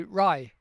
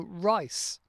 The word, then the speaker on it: rice: Or they might not pronounce, when they're saying rice, they might just say rye. And they drop the end bit off. So, rye. I would be what like flour and rye? No, rice.